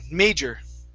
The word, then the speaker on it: major: so this word here instead of major it's may long a sound major major okay so some